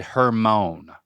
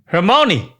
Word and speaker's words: Hermione: shot on that first one because you said Hermon hermone is Hermon no Hermon grer no you're getting closer I like that you pronounce the e but after that M you got some work to do okay hermoni I like how you say it quickly as